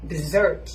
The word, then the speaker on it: dessert: คะ dessert นะ คะ dessert ออก เสียง ว่า dessert นะ คะ ถ้า เกิด ว่า เป็น คำ ว่า